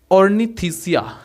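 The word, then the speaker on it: Ornithischia: Number ये last है number 5 order, जो कि है ऑर्निथिसिया। यहाँ पर ये जो था ये था सोरिसिया और ये है ऑर्निथिसिया। च लग जाएगा, थिसिया, ऑर्निथिसिया, इस तरह से इसको आप प्रोनाउंसिएट करेंगे।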